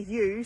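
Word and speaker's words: ewe: we do what did you just say there can i get a lives morsel all that all the sheep all the yo's are tagged a yo is what we would pronounce as a you so a mummy sheep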